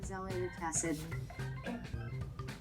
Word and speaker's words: azelaic acid: Let me just really quickly find out how you pronounce this. Azelaic acid.